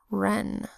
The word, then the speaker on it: wren: Our first word is wren, which is that little bird spelled with the WR phonogram that says R, short E that says E because it's closed in by the consonant N that says N. It's a one-syllable word, closed-syllable word, R, E, N, wren.